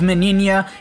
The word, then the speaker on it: Meninas: Ichigo the rest nah so starting off with minia yes that's how you pronounce her name I actually finally figured doubt